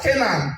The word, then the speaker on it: Canaan: We have Anibeze, we have Canaan, the same different spelling but same pronunciation with the Canaan of the Bible.